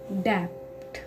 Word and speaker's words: debt: Next letter start होता है phone number का डेप्ट।